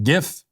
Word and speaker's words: GIF: for so the first word is Graphics Graphics gif that's it that's the end of the conversation I I've heard people like well the the guy who invented the GIF he says that's pronounced Jiff I don't know if that's true or not